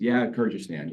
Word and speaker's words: Kyrgyzstan: Kyrgyzstan. No, it's Kyrgyzstan, yeah. Too many consonants together.